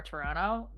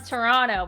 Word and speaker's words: Toronto: You can tell anyone that's from Toronto, we don't say Toronto. It's Toronto. Toronto. Yeah. The T is silent before Quebec French and the Cajun.